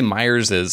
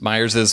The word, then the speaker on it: Myers's: I do you know when I say Myers is I feel like people are going to be like why is he saying it like that but that's just the right way to say it okay so you know